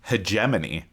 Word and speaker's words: hegemony: Eric hedony ah well according to Google it's hegemony heemy heemy so listeners